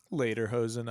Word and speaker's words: Lederhosen: Bach was famously wore lederhosen. How do you pronounce it? Lederhosen, I would say, is pretty close. Yeah, It's the closed E, the A sound.